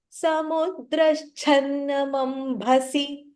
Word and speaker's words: Samudraschannamambhasi: Samudraschannamambhasi. Samudraschannamambhasi. Samudraschanna. There is a shakara and then cha.